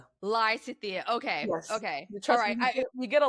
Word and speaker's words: Lysithea: So the pronunciation of the band's name. Yes it is Lysia. Lysia.